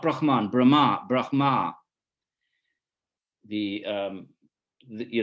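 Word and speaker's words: Brahmā: sons of Brahma Brahma it should be Brahma with a long a the the foreheaded Creator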